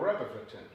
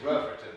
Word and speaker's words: Rutherfordton: from a place called rutherfordton uh you put way too many syllables in that it's just rougher when i lived there